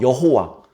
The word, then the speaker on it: 여호와: 그러나 우리는 그 단어에 본래 가지고 있는 소리들, 그리고 마소라 학파들이 거기에 붙여놓은 모음들, 그런 것들을 조합해서 여호와 또는 야훼라고 그렇게 발음을 내서 부르기도 합니다.